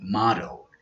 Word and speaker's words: model: if you chose be model it doesn't matter if it's use it as a noun as a verb the pronunciation is always modeled here are two sentences